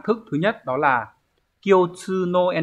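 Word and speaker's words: 共通: Các từ chúng ta có từ đầu tiên, từ này được đọc là Kyotsu.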